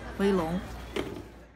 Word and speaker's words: Weilong: community a better place start now by saying boy you've a long instead of more you wait long ok so yeah the company is actually called boy you pronounce correctly and then the most popular cube series is wait long anyways guys I hope